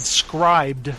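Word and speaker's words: Scribd: price for month yeah it's called scribed or it's spelled weird it's like scri BD and they have a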